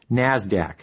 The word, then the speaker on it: NASDAQ: Stock Exchange NYSE and the NASDAQ which is pronounced NASDAQ NASDAQ stands for the National Association of Securities